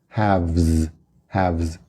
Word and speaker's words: halves: Ouve o som do V. Half, halves.